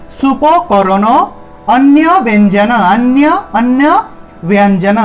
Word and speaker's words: ব্যঞ্জন: স ঠিক আছে সুপকরণ অন্য ব্যঞ্জন অন্য অন্য ব্যঞ্জন ব্যঞ্জন এখানে ব এর সাথে একটি জফ তাহলে ব্যঞ্জন ব্পরে ব এর পরে ইয় উচ্চারণটা আসবে তাহলে ব্যঞ্জন অন্য অন্য ব্যঞ্জন ব্যঞ্জন